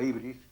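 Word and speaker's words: ὕβρις: en vez de la U es una Y, se escribe como una Y, la ibris, significa demasía, exceso, etc.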